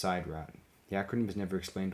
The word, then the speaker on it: Sidrat: The space/time machines that the War Chief provides for the games are only named Sidrat once, in episode 7 when it's pronounced Sidrat.